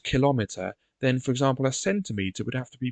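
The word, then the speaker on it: centimetre: have to put emphasis so it wouldn't be centimeter it would be centimeter it wouldn't be millimeter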